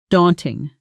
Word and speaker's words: daunting: Deon ting stress on the first syllable and that a sound is like the a in law. Practice with me. Daunting in a sentence.